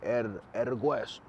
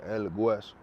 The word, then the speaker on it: Hueso: And the H is silent in Spanish, but it sounds like a G, so it's like El Hueso.